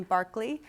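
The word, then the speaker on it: Berkeley: literature here's a beautiful illustration from Barkley you pronounce his name Barkley published in 1860 a book called British funology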